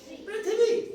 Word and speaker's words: पृथ्वी: ने प्र बोला था अब ये मात्रा लग गई तो पूरा नहीं बोल रहे हम अब क्या बोल रहे हैं इसको पृथ्वी है ना और इसको